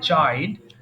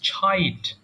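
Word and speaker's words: chide: কি চাইড আমরা basically we সে চাইড বাট the pronunciation of this word is ছাইড ছ এটা হ্যাঁ ছাইড তিরস্কার করা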